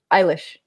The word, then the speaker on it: Eilish: Eilish. It is Eilish. Okay. Like eyelash, but Eilish. So drop us a Billie anecdote. Just one. So for context, for those who don't, my husband has been Billie Eilish's tour manager since the beginning.